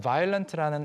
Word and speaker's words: violent: 이쯤에서 violent라는 이 단어 발음 다시 한번 짚고 넘어가자면 원래 표준은 violent 어가 있습니다. 그렇지만 빠르게 발음하느라 violent처럼 들려요. Yeah. So, originally it was violent, but when you say it fast, most people just say violent.